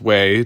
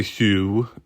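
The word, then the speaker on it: Hue: and yes as as you pronounced it correctly it is pronounced way don't say Hugh because that's what Terry did and Ian yelled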